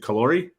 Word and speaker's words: Callori: to say it wrong is it kalori you got it nailed it all right awesome um